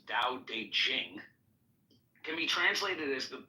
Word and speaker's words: Dao De Jing: book you're referring to the DA Ching pronounced more or less Dao de Jing can be translated as